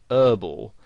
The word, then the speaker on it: herbal: would pronounce it whereas in british english you would pronounce the h and you'd say herbal essences and you might also